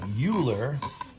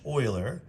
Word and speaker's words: Euler: It looks like Euler, but it's pronounced Euler.